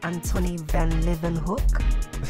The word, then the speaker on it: Antonie van Leeuwenhoek: Now, lenses were already on the scene before Antonie van Leeuwenhoek? Uncle, I think it's pronounced Antonie van Leeuwenhoek.